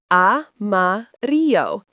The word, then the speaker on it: amarillo: Yellow is amarillo, pronounced amarillo.